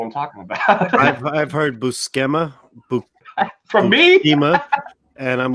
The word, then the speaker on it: Buscema: had to ask Stephanie, is it really Buscema? And she goes, yes, it's not Buscema. And she goes, my uncle tells me all the time, don't let anybody mispronounce our name, because nobody has ever said it right twice.